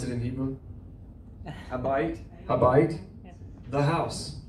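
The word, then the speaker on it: הבית: How do you pronounce it in Hebrew? Habayit, the house, right?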